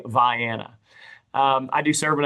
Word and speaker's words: Vienna: Uh I know that everyone else on the face of the planet pronounces it Vienna. So uh in Illinois it is pronounced Vanna.